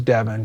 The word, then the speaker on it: Devin: His name was Devin. Devin rhymes with Evan.